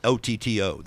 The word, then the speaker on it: Oddo: is OTTO though. Well, his name is spelled just like mine. His name is Paul Oddo, but it's pronounced Paul Otto.